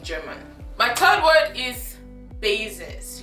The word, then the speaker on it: Basis: And in German it is pronounced, guess, Basis. Like I told you, S in English is pronounced Z in German, so you say basis, not basis.